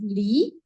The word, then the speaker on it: Li: Like I said, this era is also known as Li. Okay, I think I forgot to put in how this is pronounced. Everyone, please say Li.